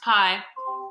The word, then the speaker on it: pi: So it's pronounced pi.